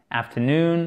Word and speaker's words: afternoon: Et là, vous avez l'accent tonique sur la dernière syllabe.